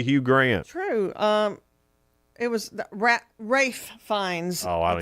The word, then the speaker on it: Ralph: It was Rafe Fiennes. Oh, I don't It's even. spelled like Ralph.